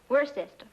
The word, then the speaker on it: Worcester: something else too dark but it's spelled w-o-i-c-e-s-t-e-r we're a sister oh yes I see